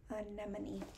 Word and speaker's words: anemone: Anemone.